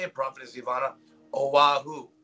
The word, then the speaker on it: Oahu: Oahu, right?